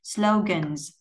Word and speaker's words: slogans: Và âm này là âm rung cổ họng, cho nên khi thêm âm sờ vô thì chỗ này mình sẽ đọc là âm z. Slogans, slogans.